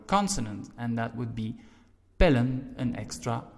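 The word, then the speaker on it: pillen: Now, if we would only add en, we would pronounce it pielen because vowel E, L consonant, E vowel again, vowel consonant vowel rule.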